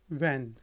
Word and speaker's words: when: बोलें, when। यहाँ पे भी देखें H साइलेंट है तो ये when है, वाहन नहीं है, when।